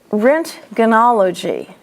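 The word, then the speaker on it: roentgenology: So that would be bursy, pluri, rentgenology, the O is silent.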